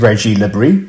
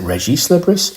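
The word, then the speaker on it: Régis Le Bris: it was, is it Reggie Lebris? Is it Reggie Lebris? Is it Regis Lebris? Is it Reggie Lebris? I don't know. But I think because he's Breton in France, you actually pronounce the S's.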